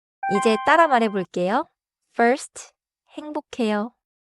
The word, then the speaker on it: 행복해요: But in natural pronunciation, it sounds close to 행복해요.